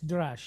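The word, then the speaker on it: d'rash: Yeah, that's dash.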